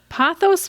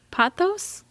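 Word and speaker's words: pothos: Panos po wait how do you say this pathos plant p o t h o s pathos I don't know what that is in real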